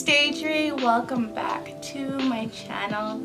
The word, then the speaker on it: Deidre: My name is Daydree. Daydree. It's spelled D-E-I-D-R-E.